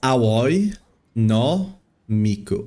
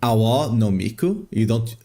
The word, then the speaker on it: Aoi no Miku: It's Aoi no Miku. Aoi is blue, right? No is normally what you use to connect words in Japanese, but the correct pronunciation would be Awa no Miku. You only use Aoi, or for example Akai for red, whenever you're just saying the color.